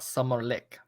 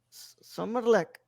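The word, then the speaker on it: Sommarlek: um summer interlude or how it is pronounced in Swedish Aiden well summer lick summer luck originally titled someone being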